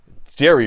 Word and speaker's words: JVRRX: So we have Jerry Beats. That's the right way to say it, even though he spells it JVRRX, which, you know, that is the new wave of spelling.